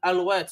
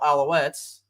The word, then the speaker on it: Alouettes: well as the Montreal Alouettes. I'm French American, I gotta say it like that, but I'll go ahead and say it the American way: the Montreal Alouettes.